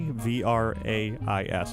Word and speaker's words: vrai: they wrote L'Amour Vrai, V-R-A-I-S. I don't know how to pronounce that. He said it should be L'Amour Vrai, V-R-A-I, without the S at the end.